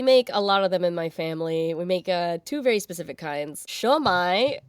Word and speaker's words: Siomai: Shomai, which is spelled Siomai. It is a cognate of shumai, the Chinese shumai.